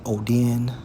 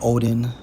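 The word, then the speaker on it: ὠδίν: And when we focus on travail, according to the Greek, Strong's G5604, pronounced as Odin, or Odin, goes into what?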